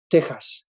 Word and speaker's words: Texas: T-E-X-A-S, Texas. X is, when you read it in Spanish, as you know, it's pronounced like an H, so it's Texas.